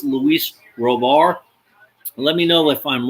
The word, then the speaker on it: Robert: I believe it's pronounced Robar because he's Hispanic, but a lot of people keep saying Luis Roberts. I could be wrong about that.